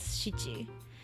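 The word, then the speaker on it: 七: read as she and nana can be also read as shichi which is just it just depends on the context where you use it it just changes but if you use the other one it's not wrong i don't like it it kind of sounds weird sometimes when you use it the other way but it's not wrong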